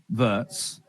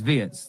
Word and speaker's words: Wirtz: that first half performance from Vertz or Vietz whichever way I I do think it's Vietz. They were saying on the commentary that that's how they say it in Germany vets.